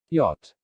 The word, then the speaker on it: yacht: condem damn him solemn when ch is silent yacht when w is silent